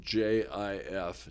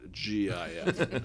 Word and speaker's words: GIF: And so on a screen above the stage, playing to the music from 2001, it types out slowly, it's pronounced J-I-F, not G-I-F.